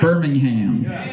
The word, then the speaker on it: Birmingham: correct here no no we're all about the ham Birmingham yeah okay uh got